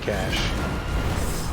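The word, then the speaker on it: cache: we're gonna flirt quiche you guys pronounce it case your cash I pronounce it cash and I think that's the correct way to pronounce it but I do your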